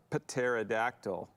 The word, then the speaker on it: pterodactyl: can't you hear a pterodactyl going to the bathroom i don't know why because the p is silent i don't get it